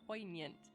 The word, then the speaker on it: poignant: poignant the overwhelm poignant I did just recently find out I'm not supposed to put a hard G on poignant poignant I learned from